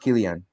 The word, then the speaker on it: Kylian: Kylian. Yeah, it's pronounced Kylian.